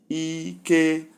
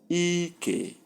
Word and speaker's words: ike: And the sound is ike, power, ike, power. Number 2, we have high, low. And the word is ike, buttocks. Number 3, the sound is high and flat. And the pronunciation is ike, to tie.